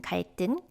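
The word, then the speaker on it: 갈등: you can see uh you have this v sound followed by a tikku in kaiten and then you see this tikku becomes sangdi get kite kimba you have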